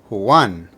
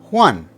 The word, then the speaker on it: Juan: emphasize the strong vow in this case a is the strong vow so you pronounce it one now say it a little faster one to finish off we